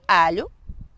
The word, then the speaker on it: alho: y es, imagina, la, tienes que cerrar un poco más la boca y tratar de dejar la lengua pegada en los dientes en la parte de arriba. Y entonces, bueno, para practicar sería pronunciar la palabra ajo, ¿verdad? En portugués, que sería alho, ¿ok?